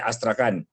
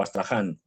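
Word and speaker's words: Astrakhan: cierto sentido de Carputinar es Astracan o Astrahan, según lo según lo pronuncies.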